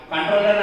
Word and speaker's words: comptroller: Controller and Auditor General of India. So we can call COMP, the spelling here, pronunciation controller, but whenever you can write controller, we can write COMPTROLLER, Controller of and Auditor General of India.